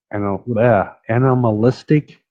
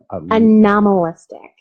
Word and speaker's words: anomalistic: Goldsmiths, University of London, and they're all like this one, Animalistic Psychology Research Unit. Anomalistic, not animalistic.